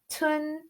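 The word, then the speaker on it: 豚: can I do that that's the second tone that um so tun goes up so when we put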